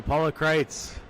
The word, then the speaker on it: Kreitz: Paula Kreitz. She says it rhymes with kites.